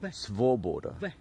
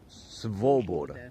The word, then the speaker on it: свобода: Svoboda. So Svoboda. Oh, that's it then. The V goes into the O. Svoboda. Yes. There we go. Svoboda. Easy. Svoboda. Just like it's spelled. It's spelled SV.